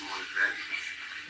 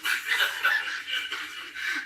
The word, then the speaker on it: Malvern: It's Malvern. It's Malvern, not Malvern.